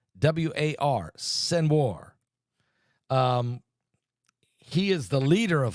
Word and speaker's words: Sinwar: Sinwar. Sinwar.